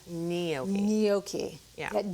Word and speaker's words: gnocchi: a boil, and we're going to cook the gnocchi. And you're going to see how fast it cooks. I feel like I've been pronouncing it wrong because I say gnocchi, but you say gnocchi.